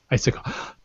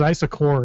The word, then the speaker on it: Issaquah: Issaquah. She almost says isocore.